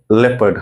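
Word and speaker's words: leopard: अपोस्ट फी जैसा वाला इसका मतलब है कि आपको इसको ये वाला सिलेबल मतलब की एल ई ये वाला सिलेबल को आपको स्ट्रेस करना है मतलब थोड़ चे से बोलना है तो लेपर्ड सुनिया लेपर्ड सुनिया लेपर्ड लेपर्ड ओके तो लेपर्ड न लेपर्ड लेपर्ड नहीं है क्या है लेपर्ड उसी तरह ये वेडनेसडे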